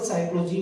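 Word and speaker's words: psychology: साइकोलॉजी, साइकोलॉजी में मैंने यहां पर स्टार्टिंग पी से किए। स्पेलिंग में पी आना है, अदरवाइज आपकी स्पेलिंग गलत हो जाएगी। यहां पर पी आ रहा है, लेकिन जब हम प्रोनाउंस करेंगे तो केवल साइकोलॉजी बोलेंगे।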